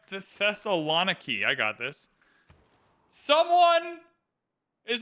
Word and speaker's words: Thessaloniki: It's pronounced Thessaloniki.